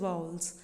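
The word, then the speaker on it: vowels: Sounds देते हैं, और वॉवल नहीं कहा जाता है, we never pronounce them वॉवल। मैंने देखा है बहुत इन्हें वॉवल ही बोलते हैं, बट the right pronunciation is वाउल्स।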